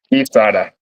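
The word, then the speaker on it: guisada: Gada. Gada. How was it? Really? It's if you pronounce it right, it's gada. There's no Uhhuh. There's no G. But um yeah, Gada. Uh it wasn't the gisada that I eat in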